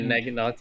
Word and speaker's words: Naginata: I can never pronounce that name. Yeah, they're Naginata.